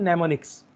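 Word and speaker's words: mnemonics: Am silent होता है, नेमोनिक्स।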